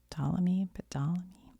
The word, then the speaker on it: Ptolemy: I know how to say PT together, like somewhere in my brain I do. I just can't think of it right now, but it's Ptolemy.